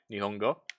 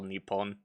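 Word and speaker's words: 日本: with nihongo di pongo i always pronounce that because like i don't know when i learn japanese i like the kanji is typically pronounced hong so whenever i see what most people would call nippon in my head i read it as nihon i mean you can say nihon it's just a little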